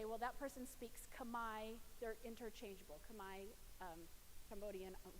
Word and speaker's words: Khmer: So Khmer, they actually pronounce it there Khmer. So when you see that, they say Khmer. I'm going to say Khmer just because that's what we're used to saying in the United States.